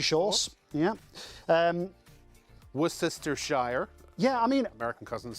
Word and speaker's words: Worcestershire: So this is a little bit of Worcestershire sauce. Yeah. Worcestershire.